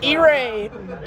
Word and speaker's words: Irae: you say it that's how you say it eay old school metal Christian metal Corps from Washington